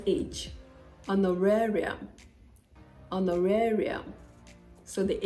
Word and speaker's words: honorarium: with The Silent Age honorarium on the area so the age is solid it's not honorarium no the H is there but it is non-existent when you're pronouncing it honorarium honorarium same goes for